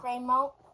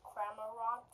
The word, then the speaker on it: Cramorant: Cramo. No, that's not how you say it. It's a. Cramorant.